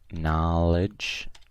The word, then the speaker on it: knowledge: and we have knowledge this one's like no like there is a silent K like no here so knowledge knowledge okay here we have